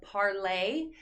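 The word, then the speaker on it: Parler: So I mentioned earlier Parlay. So it's spelled P-A-R-L-E-R, Parlay.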